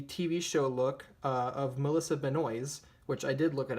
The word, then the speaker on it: Benoist: based on the TV show look of Melissa Benoist which I did look it up that is